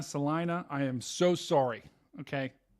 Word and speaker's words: Salina: I pronounced I've I've I think on this stream I've pronounced I've pronounced it Seline Selena Salina I am so sorry